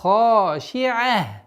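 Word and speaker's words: خاشعة: Обратите внимание на четкое произношение айн после шин и звуком ха.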